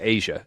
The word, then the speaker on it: A'ja: would say oh yeah that's Asia not spelled like the continent asi a spelled a apostrophe apostrophe J wants to know why